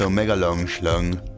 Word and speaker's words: Omega Longschlung: I've always been afraid to tell you this, though, but my username is pronounced Omega Longschlung.